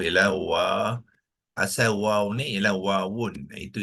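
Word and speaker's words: واو: Ya, kita tuliskan waw ialah asal waw ni ialah wawun. Itu ejaan yang sebenar, ya. Tetapi biasanya kita tak perlu sebut wawun, kita waqafkan dia menjadi waw. Waw.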